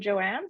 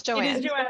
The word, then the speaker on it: Joanna: you joan i think i was pronouncing your name joanne through the entire session it's no it's joanne it is joanna okay that's okay that's